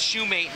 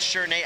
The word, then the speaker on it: Shoemate: It's Shoemate, not Shernate.